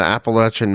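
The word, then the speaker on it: Appalachian: But you just got to hide in the Appalachin Mountains. I I up pronouncing that.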